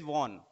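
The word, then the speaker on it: won: अब देखिए यहाँ पे वॉन, इसको हम वॉन बोलते हैं लेकिन इसका सही प्रोनाउंसिएशन जो है वन है, ठीक है ना, जो 1 2 3 बोलते हैं वन, ठीक है ना, यानी जीता, विन फर्स्ट फॉर्म होती है, और ये इसको प्रोनाउंसिएशन करेंगे वन, ठीक है।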